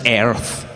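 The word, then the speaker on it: Aries: like is the sign for those attributes it's pronounced arrow Thank You Aires yeah cuz I write mom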